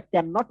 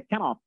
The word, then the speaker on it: cannot: আচ্ছা, আর এই যে শব্দটা ক্যান নট বলবেন না, এটার উচ্চারণ হচ্ছে গিয়ে একসাথে লেখা হয় ডিকশনারিতে, দেখবেন CANNOT একসাথে উচ্চারণ হচ্ছে গিয়ে ক্যানট।